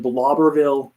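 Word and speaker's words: Bleiblerville: I was in Blobberville, Texas. It's spelled Bleiber, which is weird, but it is a super small town farming community.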